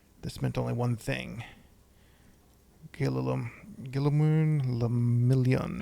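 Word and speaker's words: Guillaume Le Million: Gillimun Lamillion. And if it doesn't rhyme, you're not pronouncing it right.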